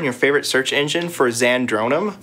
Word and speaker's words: Zandronum: favorite search engine for zandronum it's spelled exactly as it sounds z a n d